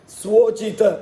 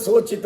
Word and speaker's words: ಸ್ವೋಚಿತ: ಯೋಗ್ಯವಾದ ಸ್ವ ಅಂದ್ರೆ ತನಗೆ ಸ್ವೋಚಿತ ಸ್ವ ಉಚಿತ ಸ್ವೋಚಿತ ಅದು ಸೋಚಿತ ಸೋಚಿತ ಅಂತ ಕೆಲವರು ಉಚ್ಚಾರಣೆ ಮಾಡಿಬಿಡುತ್ತಾರೆ ಸೋಚಿತ ಅಲ್ಲ ಅದು ನಾವು ಶೋಚಿತವಾಗಿದೆ ಈಗ ಶೋಚಿತ ಅಂದ್ರೆ ತುಂಬಾ ಆತಂಕ ಪಡಬೇಕಾದದ್ದು ಅಂತ ನಮ್ಮ ಕೈಯಲ್ಲಿ ಸಿಕ್ಕಿದ್ದು ಶೋಚಿತವಾಗಿದೆ ಅದಲ್ಲ ಸ್ವೋಚಿತ ಅದು ಸ್ವೋಚಿತ ಸ್ವೋಚಿತ ಕರ್ಮಗಳ ಆಚರಿಸುತ್ತ